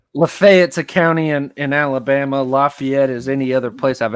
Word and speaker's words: Lafayette: you're from the south most people say Lafayette but Lafayette is the proper pronunciation it's the proper French pronunciation Lafayette yeah right Colorado